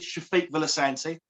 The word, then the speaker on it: Sefik Villasante: me my name is shafiq willisanti that is right you did hear it right it is shafiq villasancy and i think that's me and say pronounce it wrong but that's my accent you're even a beautiful